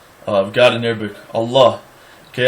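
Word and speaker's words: الله: For example, the name of God in Arabic, Allah. Okay, Allah is a dotted lamed, like you would pronounce it in Hebrew.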